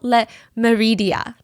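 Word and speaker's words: Le Méridien: upscale Hotel it's called Hotel Le Meridia I'm trying to pronounce it in the French way and uh both club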